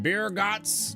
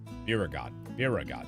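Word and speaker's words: Byregot: Well, if I don't know about the ether tanks, who in Birgot's name would? Born right in me very own workshop they were. Biragot, that's how you say it.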